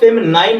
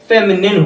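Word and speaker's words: feminine: साथ जुड़ चुका है तो वो फेमिनाइन ना हो करके फेमिनिन होगा। इसका जो सही प्रोनाउंसिएशन होगा, फिर से रिपीट कर दे रहा हूं, फेमिनिन होगा, फेमिनिन जेंडर।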